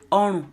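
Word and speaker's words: ọrùn: Orun is neck. Orun. Orun. It's made up of two syllables. Orun. Re, do. That's the tonal mark.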